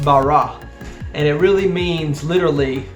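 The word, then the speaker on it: ברא: That word created, if you break it down and translate it back into the original Hebrew text, is actually a word pronounced bara.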